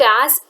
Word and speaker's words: Ere: is to be pronounced as a it's not er or arie or something else okay it is to be pronounced as a a slumber's chain has bound